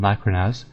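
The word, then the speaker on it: Lakhrahnaz: one of the giant eyeballs it is um laconas Lac yeah Okay cool so I got that one laconas the plain freezer and now this next one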